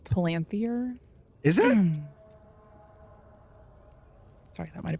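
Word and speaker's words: palantír: Pronounced Palanthier.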